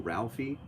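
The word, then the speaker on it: Ralfy: Yeah, there's some, if you've never seen Ralphie, which is spelled R-A-L-F-Y, he is a fantastic whiskey reviewer.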